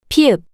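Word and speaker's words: 피읖: tiut, 티읕, tiut, 티읕, tiut, pieup, The name of this consonant is pieup, pieup, the same p sound you make when you pronounce penguin.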